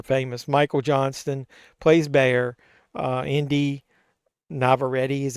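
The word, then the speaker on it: Inde Navarrette: Indy Navarrete is how you pronounce her name, plays Nikki.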